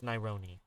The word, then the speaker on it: Naironi: up I'm an easy leg my name is naironi how do you spell that n-a-i-r-o-n-i all right and uh you ever